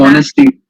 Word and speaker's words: honesty: Honesty. Yes, honesty starts with it's pronounced with an O and starts with an H.